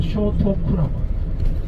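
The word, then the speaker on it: 聖徳: 이름 딱 근데 일본 발음은 쇼토쿠라고.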